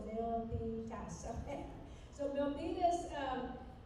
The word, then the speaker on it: Milpitas: Valley probably say well what is Milas means it's got three syllables Milas so Milas um it's